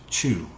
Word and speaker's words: Chou: to talk about the rockstead uh chew c-h-o-u is how how you spell it c-h-o-u roxted um